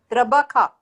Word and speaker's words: trabaja: Trabaja. Trabaja. J is pronounced as kh, so trabaja.